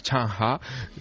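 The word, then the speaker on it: Changsha: Allí no se llama SG, allí se llama Changha, que es tomado buenas. Sí, sí, sí, sí. Allí es como lo pronuncia. Bueno, claro, a fuerza de yo mencionárselo a ellos y que pusieran cara de, no sé, de noruegos, pues finalmente me explicaron que no se llamaba Sen sino Shangha.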